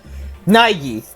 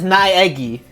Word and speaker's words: Naegi: So it's because the way how we in English pronounce it is naegi. Like we say naegi, but in Japanese they say naigi because they put the A and E together, like as in like a whole phrase. But in the Americas or English speaking, we say naegi because we pronounce every part of the fucking word apparently.